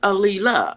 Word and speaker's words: Aaliyah: That's why I kept trying to silence the L. But I can put the L in there, Aaliyah, right? Yes.